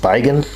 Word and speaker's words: Spigen: It's by a company, I guess that's pronounced Spigen, S-P-I-G-E-N.